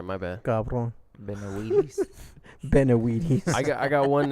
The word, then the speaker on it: Benavides: So you have Benavides. Yeah. So Yeah. Benavides. David Benavides. Right? Benavides. Benavides. Benavides. All right, my bad. Cabron. Benavides. Benavides. I got one name wrong.